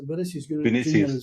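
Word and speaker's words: Vinícius Jr.: In terms of the attacking threat tonight, and Vinny, how do you pronounce this guy's name? Vinicius Jr. Is it, Jock? That's Vinicius Jr.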